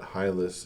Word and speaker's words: Hylas: I think is best hus comes from the Greek hulle but if you see a y in English you're not going to say ooh in response so I assume I pause it rather than assume um that hus is the correct pronunciation um you could probably